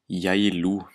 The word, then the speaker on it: Geilo: The G can sometimes, in the start of a word, be pronounced like J. Like in the place in Norwegian, Geilo, it's written Geilo.